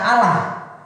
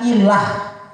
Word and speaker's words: allah: Kalau saudara buka Alkitab ada tulis Allah huruf kecil, jangan baca Allah, bacanya ilah.